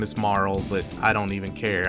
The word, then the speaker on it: Marle: you want to be specific her name is Marl but I don't even care I call her Marley because again that's a dumbass kid didn't know